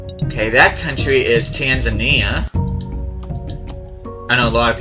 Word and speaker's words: Tanzania: Okay, that country is Tanzania. I know a lot of people pronounce it Tanzan Tanzania, but that's technically not correct. It's Tanzania.